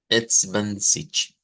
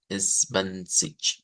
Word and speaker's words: zwanzig: ser un poquito diferente, sobre todo por esa G que creo que esto, ya habíamos visto este sonido de la cedila en la CH, pero aquí nos va a aparecer en una G que pues lo vuelve interesante, ¿verdad?